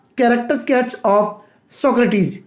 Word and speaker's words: Socrates: सक्रेटीज जी हां फ्रेंड्स इसका जो सही प्रोनंसिएशन है सक्रेटीज ही होता है लेकिन आपकी सुविधा के लिए मैं इसको प्रोनाउंस करूंगा सुकरात ठीक है फ्रेंड्स तो